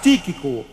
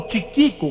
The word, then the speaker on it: Tíquico: não sei pronunciar bem tiquico eu creio que ele escrevia para o apóstolo Paulo e era também ele que entregaria aquelas cartas tíquico ou tiquico como você preferir pronunciar seu nome pois bem Chegou então